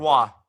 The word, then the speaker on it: Roy: Patrick makes a- Waugh.